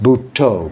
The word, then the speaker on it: Buddho: But in Thailand, they use this Bhutto, which is Buddha, Bhutto, pronounced Bhutto, Bhutto, Bhutto.